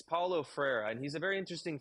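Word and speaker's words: Freire: until I read your book yeah it's Paulo frera and he's a very interesting figure because um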